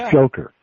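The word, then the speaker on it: Dzhokhar: Joker right the Joker yeah that's how you pronounce his name Joker yeah okay his name is Joker and he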